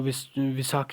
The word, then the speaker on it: विशाख: सी Chaitar D हड़न तो यहां पर जो लिखा हुआ है स्पेलिंग जो है यह ऐसे ही लिखी है लेकिन इसको ऐसे ही पढ़ा जाता है इसको विशाख पढ़ा जाता है ठीक है इसको फगन पढ़ा जाता है इसको चैत्र पढ़ा जाता है और इसको